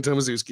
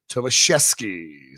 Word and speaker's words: Tomaszewski: We're not doing Tomaszewski anymore. Her real name is pronounced Tomaszewski. So we're gonna stop doing it Tomaszewski. We're gonna do it right.